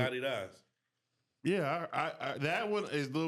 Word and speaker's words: Adidas: You know Adidas is not the correct pronunciation, right? No, it's Adidas.